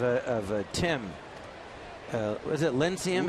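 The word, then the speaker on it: Lincecum: you think of of Tim uh was it linum how do you say his name linum linum yes he's been good today he's had a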